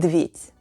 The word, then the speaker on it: медведь: You know makes you STRONG LIKE BEAR 🐻 bear is МЕДВЕДЬ /myedvyet’/ in russian say it with me: НАСТОЙКА /nastoyka/ and МЕДВЕДЬ /myedvyet’/.